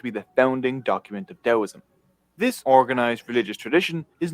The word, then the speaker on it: Taoism: It's spelled with the T, but the T is pronounced with the D.